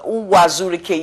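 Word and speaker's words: Uwazuruike: I mean, I don't know if I pronounce it. Uwazurike, yes, that's his name.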